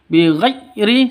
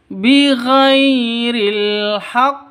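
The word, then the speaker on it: بغير الحق: Bighri salah. Bighhairi salah. yang betul bighiril haq seperti itu.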